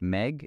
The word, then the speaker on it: Megh: Pronounced Megh, it's the Hindi word for cloud.